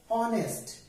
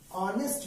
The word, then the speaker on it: honest: are getting a vowel sound because we are pronouncing it as honest we are not crossing it honest okay because we are pronouncing it as honest man and all is the vowel sound hence